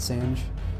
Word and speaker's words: Sange: sand on the disruptor apparently you do pronounce it Sange I've been calling you